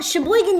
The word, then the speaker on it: Sheboygan: Well, Sheboygan, you actually pronounce everything.